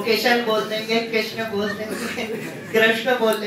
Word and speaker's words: कृष्ण: वो किशन बोल देंगे, कृष्ण बोल देंगे, कृष्ण बोलने में अच्छा। फिर कृष्ण में एक समस्या और है, बीच में जो श है वो मूर्धन्य शकार, उस मूर्धन्य शकार का उच्चारण बड़ा कठिन है।